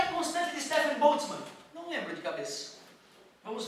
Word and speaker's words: Boltzmann: Constante, se bem que eu devo pronunciar errado, né? Constante de Stefan Boltzmann. Olha que bonito. Boltzmann.